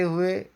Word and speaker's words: हे: यहाँ पर भी देखो जितने भी हे हैं उन्हें मैंने लाल रंग दिया है, क्योंकि यहाँ पर भी लिखते समय है ऐसा होता है, गाते समय भी है होता है और पूरा मजाक बनकर रह जाता है।